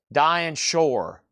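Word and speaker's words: Dinah Shore: Dian shore rhymes with poor.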